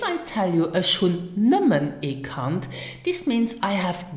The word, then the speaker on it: nëmmen: Now listen and repeat after me for the correct pronunciation. Erreicht. And the other one is nimmen.